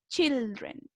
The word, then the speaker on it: children: Si se fijan, cambia la pronunciación. Se escribe muy parecido, pero decimos a child y en plural decimos children.